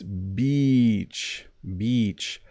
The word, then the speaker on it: beach: word to say and sometimes when people say Beach they say it in a way where it rhymes with itch don't say that it's not a very